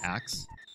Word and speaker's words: ask: Max not a chance I pronounce ask like axe that's I don't know I feel like that's a valid pronunciation of that word now though it's been said that way for so long oh good oh good